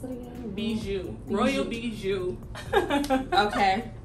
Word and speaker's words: Royal Bijoux: come up with your name how do you pronounce it again bijou royal bijou okay how did you come up with your